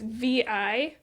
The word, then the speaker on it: Vi: Uh, it's by I hope I'm pronouncing her name right, V. Keeland. Okay. It's VI.